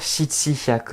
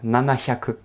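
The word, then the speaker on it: 七百: Et oui, on ne va pas dire shichi hyaku. On va faire nana hyaku.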